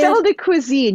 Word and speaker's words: Sel de Cuisine: company, but it's uh, the sel del cuisine. Is that how you say it? Sel de cuisine, yes.